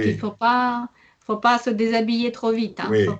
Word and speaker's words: déshabiller: C'est un seul verbe, dé. Vous voyez, donc, et, vous entendez déjà et. Déshabiller. Donc, et on entend le z parce que c'est devant comme deux voyelles, comme le H, on ne prononce pas.